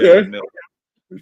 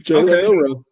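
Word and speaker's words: Jalen Milroe: Jalen Milrow. Jalen Milrow.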